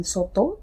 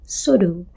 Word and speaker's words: soto: Bunyi yang seharusnya diucapkan teh dalam soto to menjadi do sodo. Seharusnya ujung lidah bertemu dengan gigi atau kita sebut apikodental.